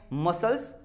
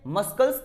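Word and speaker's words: muscles: मसल्स, कभी भी ये तो नहीं कहते, मस्कल्स तो नहीं कहते, मसल्स।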